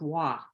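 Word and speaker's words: waa: It is W-A-A, which I imagine is pronounced wah.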